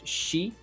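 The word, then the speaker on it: 四: Japanese can be pronounced she which is actually which has the same sound for the word for death and then you have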